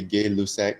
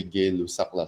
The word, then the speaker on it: Gay-Lussac: people like to say gay lusek and some people like to say gay lusakla so whatever way you like to pronounce it whatever it is